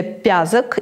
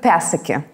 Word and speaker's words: Пязок: И наша фамилия там произносится не как «пязок», а как « Пясыки».